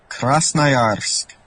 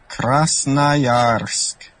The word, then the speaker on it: Krasnoyarsk: Since I'm going to mispronounce the city, here is a pronunciation I found on YouTube. Check it out. Krasnoyarsk. Krasnoyarsk. Krasnoyarsk.